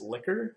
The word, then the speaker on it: Likert: had in this unit the actual pronunciation of this word is liquor however I only recognize this as being like it personally so I have been